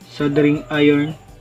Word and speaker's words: soldering: ang ating sing iron sabi ni Google silent L sing iron at pag mainit na